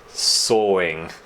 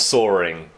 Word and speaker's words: sawing: Sawing. It's not soaring. The word is spelled S-A-W-I-N-G. Sawing.